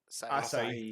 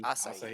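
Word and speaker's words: Asahi: yeah, Daichi is technically in Western culture a senior, along with Asai. Is that how you say his name? Asai. Asai, yeah.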